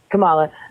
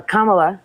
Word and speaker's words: Kamala: her uh Camila she had the most um Cala sorry um she had oh